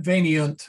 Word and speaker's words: veniunt: There's an I-U-N-T, because if we tried to pronounce that, it would be Bennett. Let's see, let me put it up there. But Veniunt sounds so much nicer.